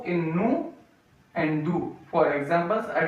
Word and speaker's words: nous: The use of oo we can use in the word us in French, nous, N-O-U-S. We spell as N-O-U-S. So O-U we are using here, N-O-U-S. We say nous, S is silent, N-O-U-S, nous.